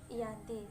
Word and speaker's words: Giyanti: Dalam pelafalan Belanda, ia tersebut Ianti, secara tertulis ia tersebut Giyanti.